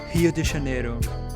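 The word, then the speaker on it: Rio de Janeiro: and working in beautiful hio de janeiro that's how the locals pronounce it and i've been there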